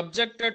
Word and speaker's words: objected: ga vaadinappudu object he objected to my proposal he objected my class he objected my entry so addu paddadu annappudu verb ga vaadutunappudu second syllable ject daggara manaku stress untundi ఇంకా disyllabic nouns ఇవన్నీ